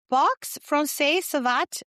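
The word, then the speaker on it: boxe française savate: and sensei teaching, and she'll have to tell me how to pronounce this, box francaise savate around the world for 20 years. You got it.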